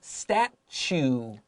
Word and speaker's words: statue: Number 4, a statue. Statue 注意这个 "chu" 的发音，对不对？它是 ch 的发音。Statue 就是指雕像。